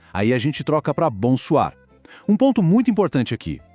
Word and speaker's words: bonsoir: E a pronúncia? Bem parecida. A primeira parte é aquele bom nasal que a gente já conhece. Bom. A segunda parte, soir, tem o tal do R francês que às vezes assusta, mas é só